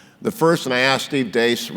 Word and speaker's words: Deace: The first, and I asked Steve Deace, rhymes with mace because that's what he hits you with, about whether or not Iowa would give up their preferred poll position.